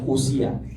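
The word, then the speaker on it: οὐσία: Dalam bahasa Yunani huruf O dan U kalau berdekatan itu dibaca U. Jadi dibacanya usia.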